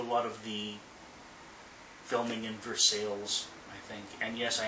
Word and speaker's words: Versailles: they did a lot of the filming in Versailles I think and yes I am pronouncing it correctly in Kentucky it's for sales so I'm getting off track I was a